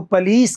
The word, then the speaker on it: police: यानी कि जो ऑक्सफोर्ड यूनिवर्सिटी के आसपास जो हाईली एजुकेटेड लोग हैं, वो इसको पुलिस कहते हैं।